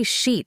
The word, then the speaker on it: sheet: Just say sheet like beach with an sh."